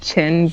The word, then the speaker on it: Qin: Yes, it's pronounced Qin, but Qin.